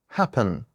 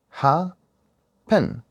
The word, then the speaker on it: happen: We have two syllables and the second one is stressed.